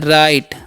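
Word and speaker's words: write: पढ़ते हैं help okay W आर आई टी ई है तो इसे हम पढ़ते हैं राइट ओके यहां पर डब्लू साइलेंट होता है एल ए जीच है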